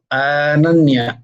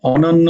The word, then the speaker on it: অনন্যা: আগে নিজে বোঝো তো আনান্যা আনান্যা অনন্য নয় আনান্যা জয়গুরু রাধেশ্যাম অনন্যা হ্যাঁ অনন্য নয় অনন্যা অনন্যা দেখো অনন্যা